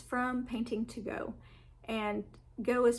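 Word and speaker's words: Gogh: for a while and it's from painting to go and go is spelled g o g h so painting to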